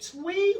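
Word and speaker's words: Twi: And now one question is, what you taught us, is it Twee or Akon?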